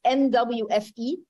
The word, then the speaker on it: NWFE: And that's why in our example, and the way to pronounce NWFI, it's NWFE. So the NWFI program is providing that example.